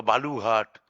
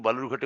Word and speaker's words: বালুরঘাট: সবথেকে বেশি ভোট পড়েছে বালুরঘাটে 72 শতাংশ সেই বালুরঘাট যাকে বিজেপি সাধারণত বেলুরঘাট বা বালুঘাট ইত্যাদি ভুল উচ্চারণে ডাকতে যাকে সিদ্ধস্ত এবং ওটাই ওই উচ্চারণটাকেই খুব সংগত বলে মনে করে বালুরঘাট আজকে উত্তর দিয়ে